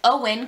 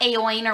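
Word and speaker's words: Eoin: finished high fighter by owen colfer um that's the other thing his name is owen not ayoin or whatever i was trying to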